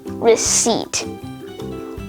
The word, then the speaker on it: receipt: Core, coup, cupboard, pneumonia, psalm, cephalogy, psychiatrist, psychic, psychology, psychotherapy, psychotic, pterodactyl, raspberry, and finally, receipt. All of these words have the silent letter P.